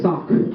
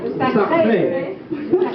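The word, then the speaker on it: Sacre: May 29th, 1913, of the premiere of Les Sacs du Printemps. How did I do? Sacré.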